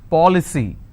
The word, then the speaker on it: policy: For example, policy. How many syllables? 3. Policy. Now here the rule says I need to stress on the third from right, which means I will stress on po.